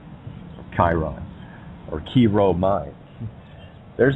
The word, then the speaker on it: Chiron: which what's Pluto's anybody Chiron whatever he some people pronounce the Kieran Chiron or shear on whatever the case may